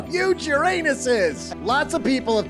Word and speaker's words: Uranus: And today's a big day because we're talking about Uran anus. I don't think you pronounce it that way, dude. I think it's Uranus.